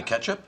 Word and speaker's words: catsup: Douglas, would you please pass the catsup? The what? The catsup. You mean the ketchup? Educated people pronounce it catsup.